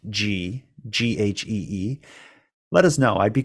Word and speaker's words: ghee: I think it is pronounced G. Okay, well, let's go with that. No, ghee. It's actually ghee.